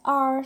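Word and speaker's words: hour: H is silent and we pronounce it as R, so the first sound is a vowel sound O.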